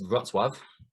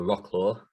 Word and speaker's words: Wrocław: It's Wrocław, or Wrocław, if you want to pronounce it like an Englishman.